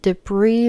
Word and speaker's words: debris: and debris remained scattered. debris는 잔해, 파편 이런 뜻인데요. 끝에 s는 묵음으로 발음을 하지 않습니다.